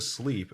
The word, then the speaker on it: Slepe: It must be called sleep because it makes sense. It's spelled SLEPE, but either way.